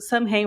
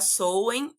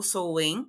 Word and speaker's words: Samhain: 13 anos diria que a pronúncia não tá exatamente correta o mais comum é a gente pronunciar soem ou sou né porque a palavra vem dos idiomas celtas né então ela tem essa pronúncia diferente do que a gente escreve né então seria isso